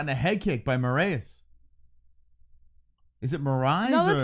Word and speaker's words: Moraes: I think it's Mareas. That's what I would assume. It's Mareas. It's spelled the same as I've Marlon actually Moraes.